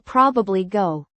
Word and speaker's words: probably: I will probably go. The middle sound is often dropped.